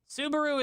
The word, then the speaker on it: Subaru: Subaru is Japanese and rhymes with kaiju and lesbians live to ride them.